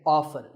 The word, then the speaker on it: often: next up is often some pronounce this as often now strictly speaking often is not wrong but the more common pronunciation is with the T silent so I recommend that you always say often one word that's often